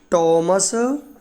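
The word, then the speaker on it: Thomas: ये दोनों रचना हैं टॉमस किड। देखें ये थॉमस नहीं बोलते हैं, ये टॉमस राइट वर्ड है, बाकी आप जैसे यूज करें, लेकिन इसका सही प्रोनाउंसिएशन यूज करना चाहिए।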